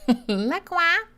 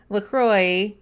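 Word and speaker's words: LaCroix: I know it's pronounced Lacroy, but Aaron and I call it Laqua.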